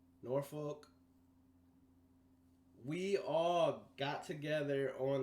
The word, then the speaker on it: Norfolk: out in norfolk virginia that's how the locals say norfolk norfolk we all got together